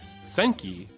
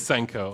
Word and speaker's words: Senko: Senki, I'm not even pronouncing it wrong, or correctly rather. Is it Senki? Is it Senki? Senko. It is Senko.